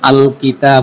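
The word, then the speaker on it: الكتاب: চিহ্ন, কিতাব সমান সমান আল কিতাব, এই দেখেন আল লামটা উচ্চারণ হয়েছে। কিতাবুনের শুরুতে আমি আলিফ আর লাম যুক্ত করলাম, যুক্ত করলে লাম হরফটি স্পষ্ট উচ্চারণ হচ্ছে আল, আল, আল কিতাবু, কিতাবটি বা বইটি, আল কিতাবু কিতাবটি বা বইটি।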